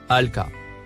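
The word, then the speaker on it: ألقى: Le mot en surbrillance jaune, se prononce, alka.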